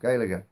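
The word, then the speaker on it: Gaeilge: the irish language itself galaga both letters are pronounced and you almost get a little empathetic vowel inserted in between them the tree most commonly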